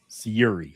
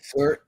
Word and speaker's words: Syuri: But then you come to 2022, where I can never pronounce her name properly. Syuri. Syuri.